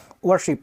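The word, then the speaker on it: worship: पे क्या जी देखिए आर ब्रिटिशर साइलेंट करके बोलते हैं इसलिए अगर आप बोलना चाहे तो आप क्या जी आप वरशिप भी बोल सकते हैं वरशिप र भी लगा सकते हैं वरशिप या वशिप बोल सकते हैं ठीक है पूजा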